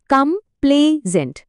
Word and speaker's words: complaisant: উচ্চারণটা খেয়াল করুন। কামপ্লেজেন্ড।